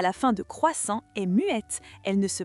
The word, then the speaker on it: croissant: Non, en français, la lettre T à la fin de croissant est muette. Elle ne se prononce pas.